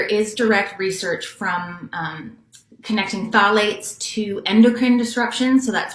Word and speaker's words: phthalates: And often in fragrance, they add something called phthalates. It's So that's spelled PHTHLATES. It's a weird word. And phthalates are, they get added to fragrances so that